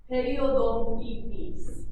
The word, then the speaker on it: periodontitis: And periodontitis, this one's a little bit easier. That's pronounced periodontitis.